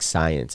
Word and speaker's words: Sign C: um nick's got this string called sign c number one pronounced like science okay i didn't read